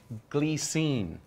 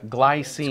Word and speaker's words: Glycine: we're gonna talk about a company called glee scene but pronounced in America glycine glycine this is six